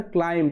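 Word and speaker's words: climbed: না আর এখানে দেখো ক্লাইম্ব যখন এম এর পরে বি থাকে সেই ক্ষেত্রে বি সাইলেন্ট থাকে তো ক্লাইম্ব থেকে ক্লাইম্বড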